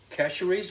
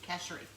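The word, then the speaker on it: Chachere: brand is tony cashery casheries is a whisper no no s cashery you don't pronounce the s in french oh yeah i never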